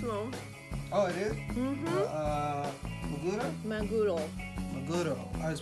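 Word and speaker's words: マグロ: Maguro? Maguro. Maguro. I was pronouncing it wrong. Maguro.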